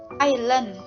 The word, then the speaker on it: island: Island, ini Island dibacanya island.